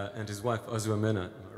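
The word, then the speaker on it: Ozoemena: I'm trying to get the pronunciation right. And his wife, Ozuomena, am I right?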